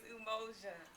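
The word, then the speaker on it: Umoja: And when I say unity, you say in Swahili um okay so unity is emojia. So hear me hear you say emoia.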